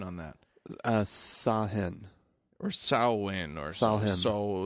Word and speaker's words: Samhain: Yeah, the incorrect pronunciation is Samhain, which is how I'm going to pronounce it. Okay. You go for it. Because that's how it's spelled.